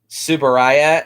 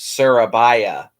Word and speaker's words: Tsuburaya: They spelled, to name two examples, they named Subaraya as how it's supposed to be pronounced, and it was spelled and pronounced Surabaya.